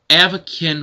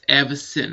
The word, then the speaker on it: Avacyn: throughout the entire video i was saying avakin restored and it's not pronounced like that it's evasin restored so whoever pointed that